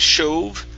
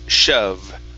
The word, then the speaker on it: shove: the last one here instead of shove the word is shove with an uh shove great all right